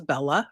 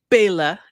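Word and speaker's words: Bela: Here we got Bella Losce in here as Bella or Ba. Bella playing Bella. They worked real hard for that one. Bail, actually, if we're gonna say it correctly, and be all snoody like.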